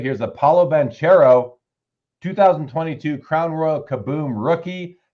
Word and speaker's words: Banchero: Paulo Banchero. And I knew I said Chero. I remember it's Caro.